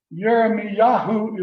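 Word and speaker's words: ירמיהו: two possibilities the uh jeremy yahoo is how it is pronounced in hebrew i don't know if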